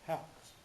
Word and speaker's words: Houck: Grayson, Grayson, how do you pronounce his last name? Houck.